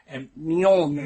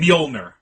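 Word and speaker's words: Mjölnir: Mjolnir. Mjolnir.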